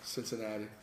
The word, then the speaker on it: Cincinnati: No, it's Cincinnati. Yeah. Cincinnati. Oh, is that how it's pronounced?